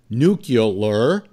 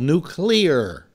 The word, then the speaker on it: nuclear: know I'm right because if you look at the way it's spelled it's not spelled nucular it's spelled nuclear well why do they